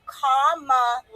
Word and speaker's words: Kamala: No, it's Kamala, like my sign.